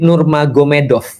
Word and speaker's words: Nurmagomedov: Jadi tulisnya Magomet tapi bacanya Mahomed kan gitu kan ya. Jadi Nur Magomedov itu jadi Nur Mahomed.